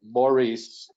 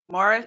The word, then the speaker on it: Morris: Okay, Maurice. Morris, he is pronounced like Morris McCarthy, Okay, and his title is Director of Public Works.